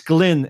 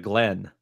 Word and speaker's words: Glynn: can actually pronounce it it's Glyn instead of Glenn yeah Lelaina Glenn is something completely different yeah I was still